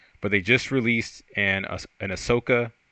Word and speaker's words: Ahsoka: they just released an Ahsoka. How do you pronounce? Is it Ahsoka or Ashoka? No, it's Ahsoka. Ahsoka.